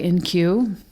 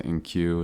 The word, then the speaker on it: IN-Q: Poems and Stories by NQ. If you're wondering how his name is spelled, it's IN-Q.